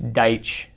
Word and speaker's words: Deitsch: My last name is annoying. It's Deitch. Deitch. Yeah, it's like just one syllable, and people always want to make it way more complicated. Deitch. Yeah, it's just Deitch.